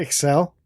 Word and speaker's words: Excel: XL's the, Talk about Excel? yes. Mm-hmm. Okay. It's just spreadsheet?